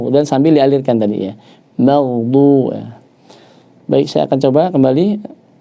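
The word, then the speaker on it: مغضوب: Jangan sampai ghairil maghdu. Ya. Tapi juga jangan terputus. Ghairil maghdu. Nah, yang benar dia ini jangan mantul, jangan terputus. Ghairil maghdu.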